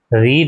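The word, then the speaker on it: read: Being, रीड है तो रीड का क्या हो जाता है, रेड। रीड की थर्ड फॉर्म क्या है, रेड। स्पेलिंग सेम रहती है, प्रोनाउंसिएशन बदल जाता है।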